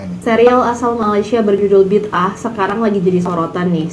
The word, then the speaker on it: bid'ah: Bid'ah, itu bacanya bid'ah. Ah, bukan bida ya.